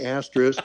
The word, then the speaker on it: asterisk: shorten that word and make sure you say asterisk, and rather than the beginning with something else at the end, making it a compound word. It's got to be 3 syllables, not just one.